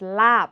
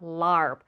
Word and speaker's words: larb: is an important one if you see an R following a vowel do not pronounce it it is lab not lar not Tom car r